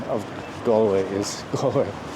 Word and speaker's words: Galway: pronunciation of gway is goway some people just tend to just put too much a into the the first vowel to think of the word all Hall brawl crawl doll so G gallway and some people say